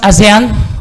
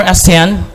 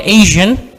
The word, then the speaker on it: ASEAN: And it's pronounced ASEAN or ASEAN, up to you, but not Asian, because those are two different things.